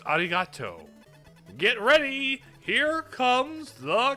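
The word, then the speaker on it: ありがとう: Ariad. No, it's Ariato.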